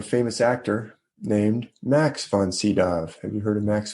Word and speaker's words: Sydow: have uh okay okay i think it's pronounced uh it's burnt it's spelled von c dao or von sydow s-y-d-o-w have you guys ever